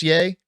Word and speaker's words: Ye: yi yay is it is it pronounced yay I think it's yay because it's Kanye it doesn't matter not